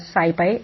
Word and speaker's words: SciPy: so let's get started scipy stands for scientific python and is bonused as sci-fi as already i am pronouncing scipy is a free